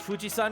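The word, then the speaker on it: 富士山: I mean, technically Japan pronounces it Fujisan with the Onyomi reading of the mountain character for kanji, but Kunyomi is straight up Yama.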